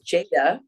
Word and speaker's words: Jada: because my name is Jada oh okay that's my first name and if you it's spelled j-a-d-a but if you just spell jda it still says Jada so that was my